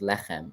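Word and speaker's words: לחם: Bread is pronounced lechem, and that sounds like lechem, lachmu.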